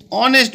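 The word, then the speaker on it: honest: দেখো, এখানে এ অ্যান্ড ডি বসিয়ে আমাদের শূন্যস্থান পূরণ করতে বলেছে, হি ইজ অ্যান অনেস্ট বয়। দেখো, এখানে এইচ উচ্চারণ অ এর মতো হচ্ছে বলে অ্যান বসছে, আমরা জানি।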